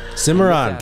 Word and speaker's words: Cimarron: Cimarron.